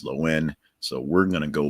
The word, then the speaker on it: Lohan: is actually pronounced not Lohan or Lohan. The H is essentially silent. It's Lowen.